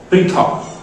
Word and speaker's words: পৃথক: নিচে চলে আসি দেখুন এগুলিতে কিন্তু তারকা চিহ্ন নেই অর্থাৎ এখানে অকারান্ত উচ্চারণ হবে না এবং এটা যেন বাচ্চারা